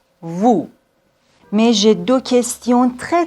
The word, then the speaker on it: vous: nous vous nous vous on doit pas dire nu vu non nous vous mais j'ai deux questions